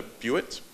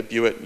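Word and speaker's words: bewit: They call it a viewat. I think that's how it's pronounced. It's named from the little leather strap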